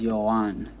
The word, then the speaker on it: Johan: all the time so my name is Johan it's a two syllables you'll on the stress falls on the second syllable which means the last